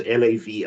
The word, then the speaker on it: LAV: By the way, that's we pronounce LAV as in the acronym is Language as Victory.